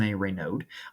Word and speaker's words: Raynaud: Now, they're arguably best player, Maxime Raynaud. That's how I've been told to pronounce it is Raynaud.